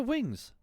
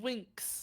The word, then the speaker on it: Winx: I'm so upset and it's called Wings Club it's called Winx okay sorry with the X but it's so stupid